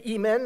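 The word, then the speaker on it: Emin: The Imen, and that's the way they pronounce it, which is today is called also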